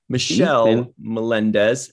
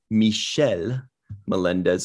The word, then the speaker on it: Michelle Melendez: balcerati tierney c dieckmann michelle melendez actually it's pronounced kind of the french way michelle melendez marsha classic shreyer anna